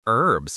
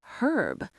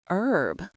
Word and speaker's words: herb: In British English, the H is pronounced, so they would say herb. But in American English, which is often taught globally, the H is silent. It's pronounced herb.